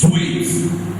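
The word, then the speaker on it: suite: Suit is s u i t. But when it comes to s u i t e is sweet.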